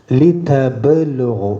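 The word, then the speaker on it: لِتَبْلُغُوا: അവിടെ പിന്നെ തിഫ്ലൻ സുമ്മ ലിതബ്ലുഗു ബാക്ക് സുക്കൂനാണ്, ഹുറൂഫുൽ ഖൽഖല.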